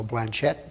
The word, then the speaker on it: Blanchet: see the name pronounced and so that's how Blanchett became the way we are using the name rather than the French pronunciation in fact this September